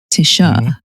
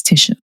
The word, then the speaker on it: Tisha: calling okay so technically okay technically is Tish Tisha that's what my family calls me it's Tisha however this is what happened